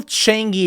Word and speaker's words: Changi: Singapore airport it is the Singapore uh Jewel Changi Airport I believe I said that right I